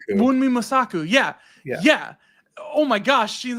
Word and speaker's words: Wunmi Mosaku: And then the one I just looked it up because I didn't want to mispronounce it. Wunmi Mosaku. Wunmi Mosaku.